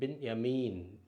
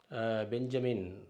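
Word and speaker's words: בנימין: இப்போ ஜோஃபிட் நூன் என், நூன் அப்புறம் பின் யமீன், பின் யமீன். நம்ம பழைய ஏற்பாட்டில் பார்க்குறோம் பென்யமீன், பெஞ்சமின் அப்படின்னு இங்கிலீஷில் சொல்கிறோம். பென்யமீன், பென் என்று சொன்னால் மகன், யாமீன் என்று சொன்னால் வலதுகரம்.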